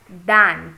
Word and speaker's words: than: is pronounced as then and the next is pronounced as than t h n for example it was much